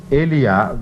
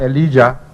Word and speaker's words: Elijah: He is pronounced in some countries or some languages Elijah, and in some Elia, and in some languages Elias.